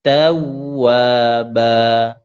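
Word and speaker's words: تَوَّابًا: Itu tawwa bukan tawwa tapi tawwaba.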